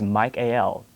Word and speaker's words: Michael: and the pronunciation but if we break down the word michael the el ending means god of god and so to pronounce it how he would traditionally pronounce that name is not proper so the proper pronunciation for that particular archangel is mike al and this particular archangel